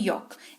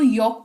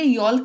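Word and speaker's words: yolk: L silent रहता है क्योंकि एल के बाद ही के है, जो कि साइलेंट लेटर रूल्स के हिसाब से जब भी एल के बाद के होता है तो एल जो है साइलेंट हो जाता है, तो इसको यॉक पढ़ेंगे, यॉल्क नहीं पढ़ेंगे, ठीक है।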